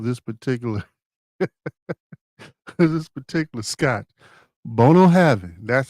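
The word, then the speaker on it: Bunnahabhain: Bono Havin. That's how you pronounce it.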